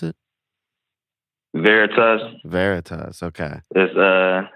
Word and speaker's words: Veritas: VERITAS, is that how you pronounce it? VERITAS.